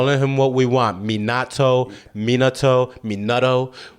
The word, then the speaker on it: Minato: with the phonetics like it's actually pronounced me NATO but like I don't got time for that I'll let him what we want Minato Minato Minato it's gonna